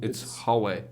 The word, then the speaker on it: Huawei: I don't, it's not two syllables. Huawei. It is. It's- It's Huawei.